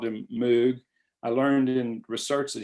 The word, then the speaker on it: Moog: thought about saying that you know mo like rogue but and i thought if i don't say moog nobody's really good that's